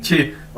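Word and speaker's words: 七: छी mean seven सात Chinese अंदर क्यू असर को हम छह के तौर पर प्रोनाउंस करते हैं जिस तरह इंग्लिश में सीच होता है तो इसी तरह उर्दू में छह ठीक है तो क्यू भी छह के छ की तरह प्रोनाउंस किया जाएगा तो क्य आई मीन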